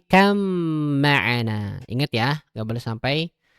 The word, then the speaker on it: اركب معنا: Tuh ada ba ketemu mim tasdid. Jadi bacanya bukan ya bunayr kab ma'ana tapi kam ma'ana.